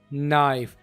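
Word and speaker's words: knife: यहाँ पर के साइलेंट भी हो रहे हैं, नाइफ।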